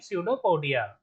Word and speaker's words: pseudopodia: Amoeba digest food in food vacuoles using pseudopodia. Here P is silent.